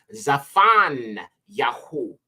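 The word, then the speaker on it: צפניה: one is Zephaniah and this is actually pronounced zafan yaho which means hidden by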